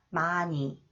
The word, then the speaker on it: 많이: 니은 히읗 sound, 니은 히읗. 히읗 is not pronounced. 많이, 많이.